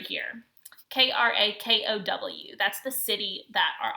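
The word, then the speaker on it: Kraków: This word right here, Krakow, that's the city that our author lived in during this time. And it looks like it would pronounced Krakow, but it's actually pronounced Krakow.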